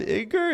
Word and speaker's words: Iger: the head of ESP Iger Bob Iger Bob Iger is that how you say it right yeah